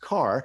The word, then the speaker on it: Karrh: of my last name it's pronounced car it's spelled k-a-r-r-h so you can there